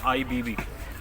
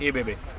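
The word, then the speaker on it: İBB: अगर हम इसे इंग्लिश में प्रोनाउंस करूँ तो इट्स IBB, बट ये लोग इसको कहते हैं एबेबे।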